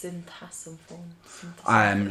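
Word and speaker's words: Sinthasomphone: I was trying to figure out how to pronounce that earlier. I googled it, and that's what it told me it was. Syntasamphone.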